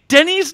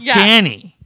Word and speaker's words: Denny: Also that Denny. By the way, Denny's name is Denny, not Danny.